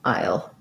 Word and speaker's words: i'll: i i'll pronunciation so it's it's really kind of like i you'll um so you can think about it like i you'll i'll or this one if you can pronounce i'll easily um good question um